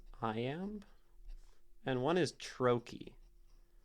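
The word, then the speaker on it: trochee: I am there are two types of two syllable words one is I am and one is Troy t r o c h e e I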